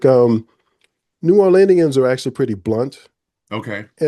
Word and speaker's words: New Orleanian: So something that is a big part, I would assume, of your identity is being a native New Orleanian. Did I pronounce that right?